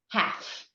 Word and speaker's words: half: work with a lot is the silent L. And the silent L usually appears after a vowel in the middle of a word. So you would have a word like half, like 50%.